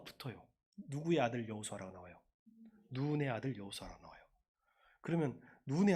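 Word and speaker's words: נון: 좀 길게 발음합니다. 히브리어로 눈이에요. 그냥 눈이 아니고 눈의 아들 여호수아예요.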